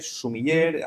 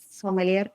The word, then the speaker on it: sumiller: Ya que hablamos de cómo se dicen las cosas, Silvia, ¿cuál es la manera correcta de decir somelier? Es sumilier. Sumiller. Aquí creo que siempre nos equivocamos. Sumiller en España, somelier en Francia.